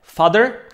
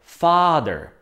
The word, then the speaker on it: father: a taktiež brother brother ale pozor father vyslovujeme ako dlhé a čiže nehovoríme father ale správne father father do tejto kategórie relatives